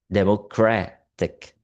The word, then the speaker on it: democratic: The suffix ik shifts stress from the first syllable to the syllable before the suffix democratic.